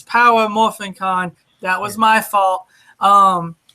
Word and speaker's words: Power Morphicon: out there um yes we've been missed pronouncing it because I keep forgetting the power its power morphicon that was my fault